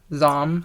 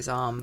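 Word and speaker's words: Zahm: um and so maddie zom zame i'm really bad at pronouncing spell it z-a-h-m zom i'd say zom okay yeah so she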